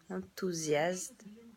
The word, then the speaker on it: enthousiaste: Enthousiaste. Enthousiaste. Que la S la prononce bien.